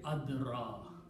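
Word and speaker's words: أدرى: So this will become ad raya. Okay, this same harakat. Okay. Now this ya with the fatha is pronounced as an alif. So the pronunciation will be adra.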